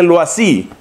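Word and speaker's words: Loisy: es el iese y y se pronuncia algo así el sacerdote loas y toma una postura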